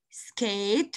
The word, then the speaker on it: skate: So S, then K, eight, skate with the E silent letter, board, board.